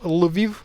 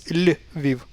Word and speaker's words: Lviv: It's not Lviv, it's Lviv, Lviv. So yeah, the soft sign is also another confusing thing that gets transliterated with this apostrophe.